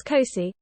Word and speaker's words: C3I: all out of areas the c3i initiative pronounced as COI was born when we